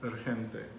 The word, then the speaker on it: urgente: So the G, I think it was just the way you started it. You actually pronounced the G correctly, but you were like, oh, you kind of like did that. But urgente. Urgente. Urgente. So anytime the G is before an E or an I, you're going to make it as a H.